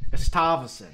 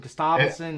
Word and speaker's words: Gustavsson: Gustafsson. Is that how you say it? Keep going. Try something different. Gustavsson. It- Gustavsson, that's how you say it. Gustafsson, yeah.